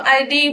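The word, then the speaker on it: id: इट यानी कि इसको आईडी भी प्रोनाउंस कर सकते हैं, ठीक है।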